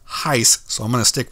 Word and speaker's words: HySE: logo the name h-y-s-e which Google says is pronounced Heist so I'm going to